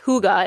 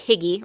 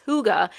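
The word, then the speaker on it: hygge: Uh, the definition of this, it's actually pronounced huga. It looks like higgy, right? That's that's how I would say it, but I looked it up. It's huga.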